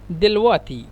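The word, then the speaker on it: دلوقتي: দেল ওয়াক্তি দেল ওয়াক্তি মূলত মিশরেরা উচ্চারণ করে দেলওয়াতি দিল ওয়াতি মানে কফকে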